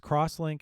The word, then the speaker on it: X-Link: they're pronounced akoya crosslink which is typically written x-link so it's crosslink and servlink there's essentially